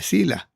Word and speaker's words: Sila: Y esta es una otra cuña que se conoce de finales de Zula o de Sila. En castellano se dice sila.